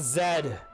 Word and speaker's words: Z: Why do you pronounce it Z? Why do Americans pronounce it Z? I'll tell you why. Because they want it to fit the rhyme in the song. So they changed the language because they wanted the song to rhyme.